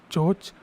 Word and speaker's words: CHoCH: This is called as change of character or CHoCH. You say it like CHoCH.